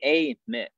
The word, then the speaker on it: Amyx: Yeah, it's actually Amyx. Think of like A and then M-I-X, Amyx.